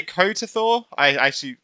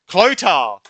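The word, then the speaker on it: Chlothar: How do you say his name? Kotathor? Clotar! There we go.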